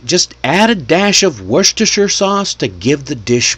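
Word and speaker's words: Worcestershire: I love worstershure sauce. Worst sauce. That's what I used to say when I was a kid.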